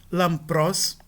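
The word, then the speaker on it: λαμπρός: Antes de labial, tende-se a pronunciar a nasal labial representada pela letra mu. Por exemplo, lampros, né? Nós temos um pi aqui e a nasal que o antecede vai ser um mu e não um nu.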